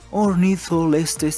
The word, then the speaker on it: Ornitholestes: Tenemos al Ornitholestes, sí, así se pronuncia.